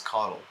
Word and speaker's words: coddled: Not cuddle, it's coddled.